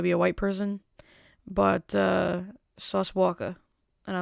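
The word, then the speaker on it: Sauce Walka: So in current events, not unrelated events, current events, a rapper named Sauce Walker. I have to say it like that because there's no ER at the end of Walker. It's not Sauce Walker.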